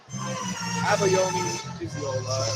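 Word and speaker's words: Abayomi Iyiola: Abayomi Iziola is the actual way to pronounce it.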